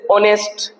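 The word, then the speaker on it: honest: वैसे ही मैंने और आपको बात बताए थे, जैसे ऑनेस्ट पर्सन, ऑनेस्ट पर्सन, है ना, ऑनरेबल, ऑनरेबल मैन। तो ये एच आ रहा है लेकिन ये साइलेंट है, इनके पहले किसका प्रयोग करेंगे, एन का।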